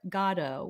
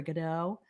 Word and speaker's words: Godot: i got tickets for waiting for gado which most people pronounce as waiting for godot we came out of